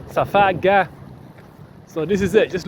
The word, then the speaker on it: Safaga: Safaga. Remember, the Egyptians pronounced the J as a K or a G. You know, Masjid, Gamal, Gamila. You see, Safaga.